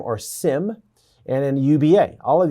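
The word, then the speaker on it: SIEM: Uh this is pronounced SIM or SIM and then UBA.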